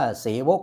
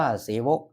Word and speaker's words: เสวก: ดี เสวก นะ ครับ ที่ บอก ว่า ออก เสียง ว่า เสวก เ นะ ครับ อ่าน ว่า เสวก หมาย ถึง ข้า ราชการ